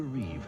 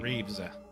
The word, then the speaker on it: Reeve: Christopher Reeve and Marg Helgenberger. But I said it wrong. Though. It's Reeve, not Reeves.